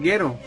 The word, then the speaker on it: Gero: Dije Doctor Gero cuando es Doctor Gero. Así se pronuncia. Sí, es el Doctor Gero. Bueno, es confuso. No, iba a decir que es confuso porque también otra de las cosas es en lo que es procuraban el guión escribirlo en la lista de personajes cómo se escribía, pero en el guión sí venía detallado cómo se pronunciaba, o sea, ahí se tenía que poner G de gato, U-E-R-O, debido a la confusión